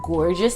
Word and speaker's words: Gorgius: a la long talking this company is called gorgeous here but they're gorgeous it's spelled g-o-r-g-i us like yeah they're